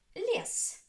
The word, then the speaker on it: лес: Лес. Лес. Лес. One syllable, so this syllable is stressed.